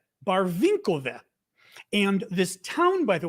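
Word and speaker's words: Барвінкове: It's Barvinkove.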